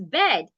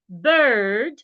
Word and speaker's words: bird: pronunciation B British pronunciation un likee the Nigerian pronunciation that we say bed b d is bed b d should never be be pronounced as bed you either say bird or bird so this time watch